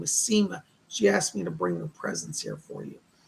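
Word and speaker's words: Sema: She gives me the name of Seema, S-E-M-A, Seema, she pronounces it.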